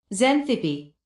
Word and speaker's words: Xanthippe: Because yeah, I think I'm pronouncing it wrong. Wait. Xanthippe Xanthippe, okay.